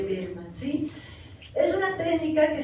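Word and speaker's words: Baermann: de concentración que llama técnica de berma se escribe berma se lee berma sí es una técnica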